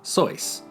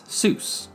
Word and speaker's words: Seuss: While he used the traditional German pronunciation of Soy, most other people in Dartmouth read it as Seuss, rhyming with goose.